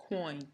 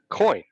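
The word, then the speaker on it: quoin: i do not know how to pronounce this term does anybody know coin coin coin and that is these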